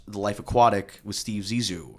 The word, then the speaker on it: Zissou: And I was recommended a bunch of times to watch The Life Aquatic with Steve Zissou, right? Is that how you say it? Yeah. Steve Zissou.